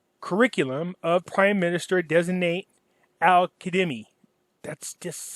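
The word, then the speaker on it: al-Kadhimi: I found out, somebody pointed this out to me, the Z is pronounced with the D, so it's Qaeda Me. I believe that's how you, Al-Qaeda Me is how you pronounce that.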